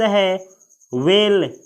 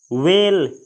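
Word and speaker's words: whale: अगला शब्द है वेल। वेल, इसे कोई कोई हवेल पढ़ता है, लेकिन इसका करेक्ट प्रोनाउंसिएशन यानी करेक्ट फोनिक लेटर है वेल।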